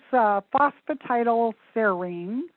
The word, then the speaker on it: phosphatidylserine: It's phosphatidylserine, and I'll spell that for you.